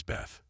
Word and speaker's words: Beth: a blessing in Aramaic this letter is written as B and pronounced as Beth the second letter is